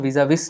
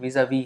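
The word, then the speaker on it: vis-à-vis: तो normally French में आप देखते हो कि जो लास्ट कॉन्सोनेंट होता है उन्हें प्रोनाउंस नहीं किया जाता है, वो बेसिकली साइलेंट रहते हैं. इसीलिए इस पर्टिकुलर वर्ड का प्रोनाउंसिएशन vis-a-vis नहीं है, vis-a-vis है. सो जब भी आप इसको बोलें तो वीज़ा वी बोलें, बिकॉज अगर आप सोच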